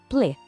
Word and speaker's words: s'il vous plaît: Vamos pensar nos sons separados. Primeiro, s'il, depois vous e por último, plaît. Lembrando que o T no final é mudo.